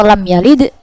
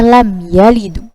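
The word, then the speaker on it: لَمْ يَلِدْ: Ya, sini seperti contoh lam yalid dibacanya lam yalidu.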